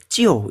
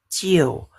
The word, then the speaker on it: 就: Ini bacanya jiu ya, G E O, jiu.